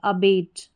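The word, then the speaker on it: abate: ए आया शुरू में इसको अ पढ़ा। फिर है बी ए टी ई इसको बेट करके पढ़ेंगे। अबेट अबेट अबेट जो है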